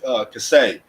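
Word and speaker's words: כסה: In the time appointed is just one Hebrew word, which is keseh, Keseh. K-E-S-E-H. Might have a different little fluctuation with the pronunciation based on that Assyrian Hebrew, whatever they have, but it's basically the same thing.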